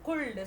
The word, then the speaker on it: could: Here, C-O-U-L-D. Could. What is the pronunciation? Could. Here, L. This L letter is silent letter.